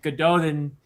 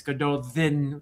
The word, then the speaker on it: Gododdin: to they pronounce it Gododdin, but really in Welsh which is where it comes from it's Gododdin, but we'll we'll just say it like it's pronounced in the books, Gododdin.